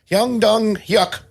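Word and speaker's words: Hwang Dong-hyuk: the last name I try to even remotely pronounce during this episode y dong yuck yep that's it okay the accent nice yeah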